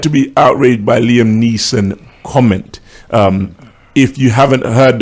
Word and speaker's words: Neeson: be outraged by Liam Neeson? Is that how do you pronounce his name? Neeson. Yeah, you're doing my head in saying Nielsen.